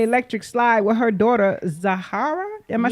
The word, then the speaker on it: Zahara: Now speaking of beautiful people, Angelina Jolie was right here in Atlanta doing the electric slide with her daughter Zahara.